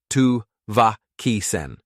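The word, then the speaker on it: Tavakisen: He felt the rhythm this time, the slight stress on the second syllable, the sharp clip of the last. "Tu-va-ki-sen."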